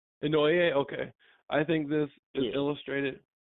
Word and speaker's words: Inouye: In Inouye, how you say it? Just pretty close to Noye, I think. Inouye, okay.